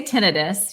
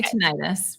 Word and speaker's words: tinnitus: different way caused by vertigo how do you pronounce that i say tinnitus you can say tinnitus but this is typically yes so how can